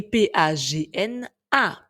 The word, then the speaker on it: pagna: Nous avons d'ailleurs un mot, pagna, qui signifie ami, ou d'autres mots vous disent ami, qui s'écrit P-A-G-N-A, pagna. Mais si nous avions pris l'habitude d'écrire le GN, le son nieux GN au milieu du mot, nous l'aurions lu pagna.